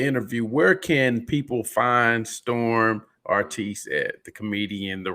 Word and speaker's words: Storhm: You can find me on Facebook at Storm Artiste. Storm is spelled STORHM. Artiste, ARTISTE.